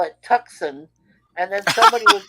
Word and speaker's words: Tucson: Yeah, it's Tucson. The C is silent."